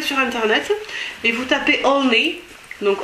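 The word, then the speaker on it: Olney: euh vous allez sur Internet et vous tapez onne donc onne c'est le nom d'une ville anglaise ça s'écrit comment o l n e y voilà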